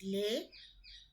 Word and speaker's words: les: For example, if we say LES lay, then S is silent.